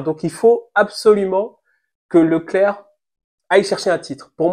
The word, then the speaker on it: Leclerc: sains et euh Charles Leclerc qui sait même plus prononcer son prénom je sais pas si vous avez vu il s'appelle Charles Leclerc maintenant il le dit en interview euh Charles Lecler grosse déception grosse déception